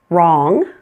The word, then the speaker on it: wrong: Sometimes you'll find words that begin with WR. In this case, pretend it is just an R. That W is silent.